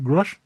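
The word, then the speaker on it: Grusch: Do I pronounce his blooming name? Grush. Yeah. David Grush. Yeah. That's right.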